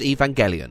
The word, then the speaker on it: Evangelion: a legacy such as akira and neon genesis evangelion i looked up how to pronounce this and they said it was evangelion